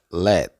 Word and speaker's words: let: a ver esta palabra se pronuncia Let let como si fuera pronunciar la t pero no la pronuncia Let let y la